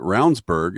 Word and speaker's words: Ravnsborg: But if they don't pay attention, I mean, Ravnsborg, who was our AG, his name is actually spelled Ravensborg. Yes. But it pronounces it Ravnsborg, and he ran against